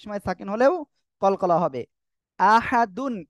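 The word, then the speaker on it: أحد: সাকিন হলেও কলকলা হবে আহাদুন এর জায়গায় ওয়াকফ করলে আহাদ আহাদ ঠিক আছে ওকে আমরা এরপরে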